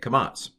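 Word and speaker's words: קָמַץ: The long A is the kamats, and it's basically a little T written under the consonant. And that's the long A, kamats, pronounced ah.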